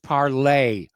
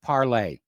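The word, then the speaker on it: Parler: going on out there it's pronounced parlay which is french for speaking yeah and i know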